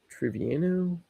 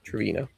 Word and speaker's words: Trevino: Triviano. Jose Trevino.